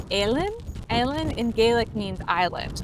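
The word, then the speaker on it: Eilean: It's not Ellen or Eileen. It's like in the middle. It's like Alen.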